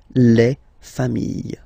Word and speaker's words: familles: Famille, singular form. Famille, plural form. Same pronunciation, S, not pronounced, okay?